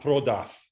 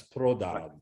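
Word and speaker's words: продав: So voiced consonants stay voiced at the ends of words, like prodav. That's not prodaf, that's prodav. Right, right. And actually, in Western Ukraine, there's a tendency to pronounce it prodau, almost like a W, but that's not proper. You should, like good Ukrainians should pronounce it prodav with a V, clear V sound.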